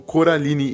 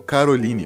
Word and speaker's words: Coraline: prova disso é que eles pronunciam o nome dela como Coraline e não como Caroline como normalmente fazem os vizinhos todos satisfazem as vontades